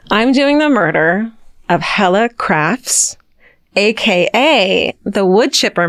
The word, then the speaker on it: Helle: And her name is Hella, Helle is how you spell it, but it's Hella.